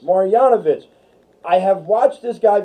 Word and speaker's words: Marjanovic: How do you pronounce it? Marjanovic. Marjanovic.